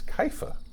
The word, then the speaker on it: Kepha: Apparently, it's Kepha. Kepha. Kepha. That's how. Who knew? That's how that Jesus pronounced it, and apparently they did a lot of studies.